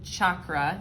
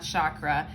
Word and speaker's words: chakra: So finally, a little bit about the sacral chakra, and I am aware that it's pronounced chakra, not chakra.